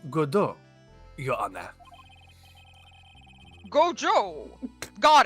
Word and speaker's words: Godot: How else do you want me to pronounce that? In my mind, I read it as Gabo. Okay, but it has he to says sound it like go- Godot. like So Godot, Gobo.